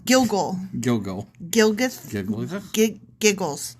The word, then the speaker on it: Gilgal: Oh, I said it wrong. Gilgal.